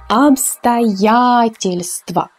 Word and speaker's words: обстоятельства: So here we have emphasis on ya. That is why all the three O's are unstressed. So we will say it like this. Обстоятельства.